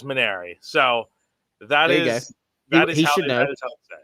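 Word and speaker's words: Mainieri: guys pronounce it and Jay Johnson says maner so that is that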